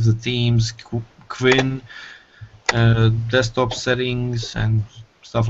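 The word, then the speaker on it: KWin: Plasma 5, the themes, Qwin, desktop settings and stuff like that? And then you can start into going into the widgets. Qwin. Qwin. Martin always pronounces it Quinn.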